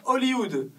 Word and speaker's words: Hollywood: après vous avez Hollywood en français on ne prononce pas le h on dit Hollywood la capitale américaine du